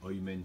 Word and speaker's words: Amen: Il y a des prononciations différentes par rapport justement à la Galoute qui a fait son travail. Donc, le Amen, le Oymen chez les Ashkénazes.